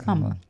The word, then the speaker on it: Kamala: I feel like I keep saying her name wrong. Kamala, right? It's Kamala.